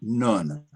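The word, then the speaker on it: נ: Now, the next letter is nun. I spell it N-U-N or N-O-O-N.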